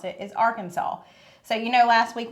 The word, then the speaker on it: Arkansas: The only acceptable way to pronounce it is Arkansas. So, you know, last week when I drew it out and I said it's called our Kansas, I'm guessing they could handcuff me for that